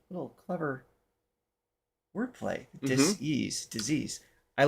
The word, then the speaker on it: Dis-ease: Reason why I said it that way is it's spelled dis I sen e a s e. Little clever word play. Disease disease.